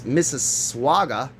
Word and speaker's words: Mississauga: In North America, inaugurated in it's not Mississippi, Mississippi, it's Mississauga, sparks online emotional outrage.